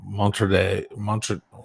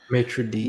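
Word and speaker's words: maître d': the place, and I met the guy, the Montre. How do you say it? Maitre d'.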